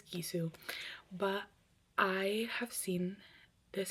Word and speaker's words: Gisou: I think that's how you pronounce them. Jisoo. I don't think it's Jisoo. I think it's Gisou.